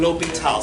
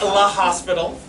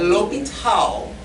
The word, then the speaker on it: L'Hôpital: Say that with me. L'Hôpital. L'Hôpital, dead Frenchman. One more time, how do you say it? L'Hôpital. It looks like La Hospital. It does look like La Hospital, I understand, but L'Hôpital, and we will say it that way, L'Hôpital.